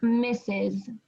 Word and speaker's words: Mrs: that has the mrs and so we pronounce that it's it sounds like misses when you take away the s in the dot that's how you say that mr is a man